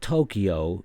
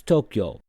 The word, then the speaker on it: Tokyo: Well, it's not Tokyo, it's Tokyo. It's 2 syllables, 2 symbols.